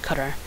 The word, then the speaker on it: CDR: here are some laws CDR is always pronounced cutter it's from way it's